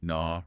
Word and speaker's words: gnaw: The silent K, G, and W that often show up at the start of words. Like knee, gnaw, right.